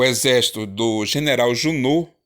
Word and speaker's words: Junot: o exército do general júnor se escreve junot sempre pronuncia júnor chegou a lisboa eles